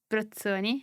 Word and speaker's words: Brozzoni: it depends by the way my surname it's britsoni no one knows how to pronounce it but there's this town which is